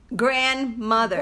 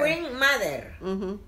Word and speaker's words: grandmother: Grandmother. Wing mother.